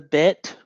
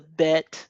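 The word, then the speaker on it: ב: All right, so when you have a dot inside the bet there, it's going to be B as in boy. The modern pronunciation, when the bet does not have the dot inside, it's pretty much the v as in vine.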